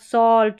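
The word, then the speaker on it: salt: हैं जैसे कि चॉक, सॉल्ट, स्टॉक, टॉक और वॉक, यहाँ पर इन सारे स्पेलिंग्स में ए के बाद में जो एल आ रहा है वो साइलेंट है और ए का उच्चारण ऑ है।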